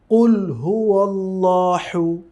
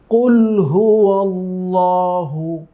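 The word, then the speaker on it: قُلْ هُوَ ٱللَّهُ: আবার অনেকে পড়েন কুলহু আল্লাহু। দুটি ভুল। কেমন? এখানে দুটি হচ্ছে ওই হাই হা একটু গাম্ভীর্যের সাথে উচ্চারণ করতে হয় একটু প্রেসার দিয়ে কন্ঠে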